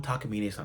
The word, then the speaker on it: Takamine: Please put them on what you say Takamina. Am I saying it right? Yeah. Please put them on Takamina.